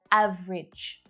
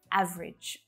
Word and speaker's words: average: pronounce it that way much more common to hear average two syllables only average average miserable miserable so it